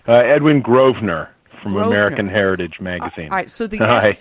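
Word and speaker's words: Grosvenor: we've got Ed uh gross right I'm not even gonna try it I'll let you say it it's Edwin groer from American Heritage magazine all right so the S is silent the S is silent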